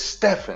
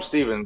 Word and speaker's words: Stephen: His name is spelled Stephen. Why are we calling him Steven? It's Stephen. Yeah. Why would you call him Steven?